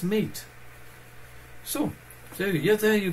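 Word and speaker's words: MATE: not like us we know that it's not mati it's meat so so yeah there you go now you know in how to pronounce the major desktop it's meat because I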